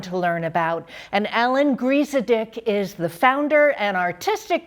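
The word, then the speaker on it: Griesedieck: No one does, but it was a perfect pronunciation of Griesedick.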